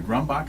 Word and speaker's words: Grombacher: And we have a special guest in the studio, Grombacher. Am I pronouncing that correctly?